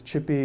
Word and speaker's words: ChiPy: sequel when I could this is chippy not shy quill rhymes with Michael